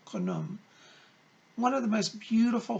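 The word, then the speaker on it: Khnum: K-H-N-U-M is how it's spelled, Kaname.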